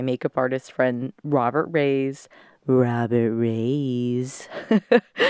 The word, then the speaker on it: Robert Reyes: Robert Reyes. That's how we say his name. We don't actually say Robert. We say Robert.